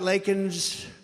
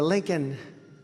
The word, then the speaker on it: Laken: He got Laken's name wrong, calling her Lincoln.